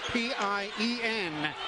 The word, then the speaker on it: Pien: Spells her first name P-I-E-N, pronounced Pien.